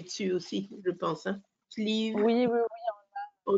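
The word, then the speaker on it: Slieve League: Ça s'écrit S-L, zut, maintenant j'ai le trou, E-A-G-U-E pour sleeve et ligue comme une ligue, L-E-A-G-U-E.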